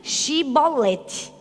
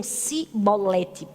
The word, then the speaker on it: Shibolete: Efraim, ele dizia assim, diga Shibolete. E aí muitos deles diziam Sibolete, não conseguiam dizer o Shi por causa da pronúncia do lugar de onde eles eram.